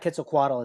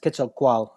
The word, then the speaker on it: Quetzalcoatl: I don't know, and actually it's not Quetzalcoatl, it's actually pronounced Quetzalcoatl in Nahuatl. But I call it Quetzalcoatl because nobody understands what I'm talking about if I say Quetzalcoatl.